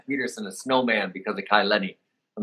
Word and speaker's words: Kai Lenny: Like, and we're talking about Kai Lenny, right?